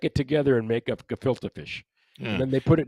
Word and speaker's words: gefilte fish: say this right i think i'm in correction jafalta fish is it is that pronounced right the jafalta fish i still didn't catch that jafalta fish gefilte fish okay filter that's the problem you pronounce it